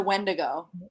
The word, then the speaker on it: Wendigo: who knows the beatles it's windigo i thought i thought it was wendigo me too i don't know no you were saying it right it's a wendigo wendigo yeah like winnebago i still don't say